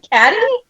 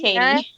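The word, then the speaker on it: Cady: Girls, like it's just Caddy. No, like not even like that. Pronounced Katie. It's Katie.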